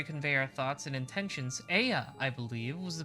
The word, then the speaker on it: Ea: When the vibration of vocal folds was still required to convey our thoughts and intentions, Aya, I believe, was the pronunciation used when referring to our people.